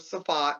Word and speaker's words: Safed: There was a Facebook page of Safat, which is in northern Israel. It's spelled SAFED, TZFAT, whatever.